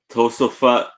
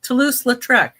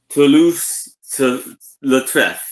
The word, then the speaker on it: Toulouse-Lautrec: To Tosafut. Tosalofu. How you say it, Becky? Let me see. Oh, Toulouse-Lautrec. Toulouse-Lautrec.